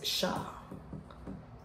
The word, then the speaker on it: siya: If the subject is a pronoun like siya, this is siya, but most people pronounce this as siya. The pronunciation is siya, but the spelling is siya.